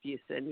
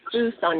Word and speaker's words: Fuson: it fusen yeah every everyone pronounces it wrong it's fuson yeah Fus I Fon okay we're sorry mid February 199 okay so we're not gonna say we're not gonna say fous on anymore Fen right yes